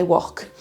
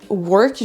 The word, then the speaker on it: work: Alors qu'en fait, si vous écoutez bien, vous allez entendre qu'on n'entend pas du tout un O, mais quasiment un E.